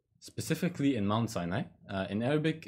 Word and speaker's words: Sinai: So the Mount, wait, is how to pronounce it again? Sinai. Sinai.